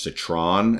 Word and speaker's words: Citron: Today's guest is, I better pronounce it correctly this time, Josh Citron, as in Megatron.